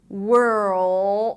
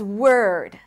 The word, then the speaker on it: world: The reason why it's confusing is because a lot of times people don't get to the L and then they pronounce the word world as word.